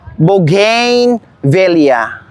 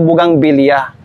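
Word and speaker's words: bougainvillea: Bugin Villa o akala ko Bugang Villa.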